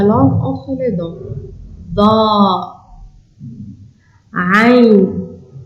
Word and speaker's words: ع: Da, Ain, ça vient de la gorge.